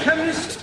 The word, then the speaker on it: chemist: me k e n chemist does not begin with a k it sounds like it begins with k CH but that is